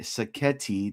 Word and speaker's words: Sacchetti: And I mean, Mark, my guy Sacchetti, that rhymes with spaghetti, says it.